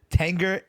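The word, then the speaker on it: Tengger: No, it's a T. It's not an N. It's a T. Tenger Cavalry.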